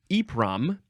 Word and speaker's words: EPROM: okay one more word for this episode It's pronounced eom it's all caps e p r o m